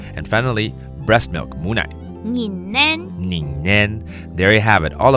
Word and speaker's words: 母奶: 拧奶。